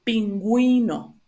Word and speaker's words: pingüino: So just put this, if you see these two little dots here in the U, it just means that you need to pronounce the U, like a normal U, like U. So, pingüino, grúa, ungüento, nicaragüense, bilingüe, all right?